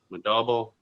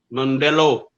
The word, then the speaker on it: Modelo: See, Modelo. There's a mo on there, but not as deep.